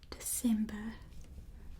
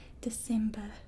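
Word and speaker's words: Desember: And then December is spelled with a S instead. December. So we just got the R, and it's kind of pronounced similar other than that R. December.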